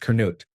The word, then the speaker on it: Canute: In my last place of work, there was a fellow senior manager called Canute Beakman, pronounced Kut.